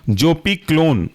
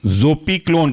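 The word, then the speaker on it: zopiclone: पीन इसके अंदर का एग्जांपल है पहला वाला जोपी क्लोन जोपी क्लोन की स्पेलिंग है जोपी जेड ओ पी आई और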